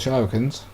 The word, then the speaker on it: shuriken: 1% kill on the Shurikens. Or Shurikens. I called them Shurikens when I was a little kid and it's stuck like that in my head, but I believe it's pronounced Shuriken.